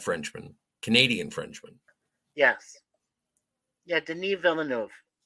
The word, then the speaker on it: Denis Villeneuve: Yeah, Denis Villeneuve. That's how he pronounces it. I just call him Dennis.